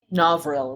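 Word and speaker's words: Novril: fingers going in yeah novil is how it's pronounced okay I think I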